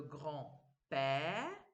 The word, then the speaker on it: grand-père: Le grand-père, je ne prononce pas le D.